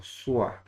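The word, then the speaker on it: soir: Or swa. Swa. Swa means evening. Tua means you in objective form. Tua. You. Okay. So swa is evening.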